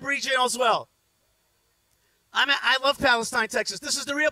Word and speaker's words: Palestine: They pronounce it Palestine.